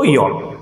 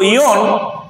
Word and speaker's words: aeon: ওকে, আচ্ছা, তো ইয়ন বা এটাকে আমরা AEON, ইয়ন, এই উচ্চারণটা রেফারেন্সে করব।